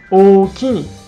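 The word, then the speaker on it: おおきに: The accent is on ki part, so it sounds okini.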